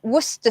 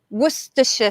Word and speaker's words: Worcestershire: We call it Worcester sauce. Worcester sauce. Or some people say Worcestershire sauce. 2 ways to pronounce that sauce.